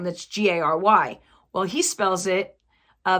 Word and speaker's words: Gerry: my brother's name that's g a r y well he spells it uh the way he spells it it's actually pronounced like fairy but with a G so it's Gary I know it's still